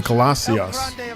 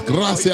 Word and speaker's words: gracias: So Jay, is it pronounced Gracias or Glacias? It's an R in Gracias. GR. Why am I saying Glacias? You gotta roll the R's. Gracias. I'm saying Glacias. That's in glass. Glacias. No. There you go. Gracias.